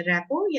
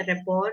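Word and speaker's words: rapport: रैपो या रेपॉर भी बोलते हैं, प्रोनाउंस करते हैं।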